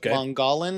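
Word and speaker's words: Mogollon: It lies on the Mongolan, if I'm pronouncing, or Mongol, M O G O L L O N, rim in east central Arizona at an elevation of 6,345 ft.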